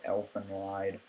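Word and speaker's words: Elfen Lied: uh this is called elephant wide and uh in case you're wondering how to spell it it is elf en that's one word and then space lied like i lied to you or whatever but um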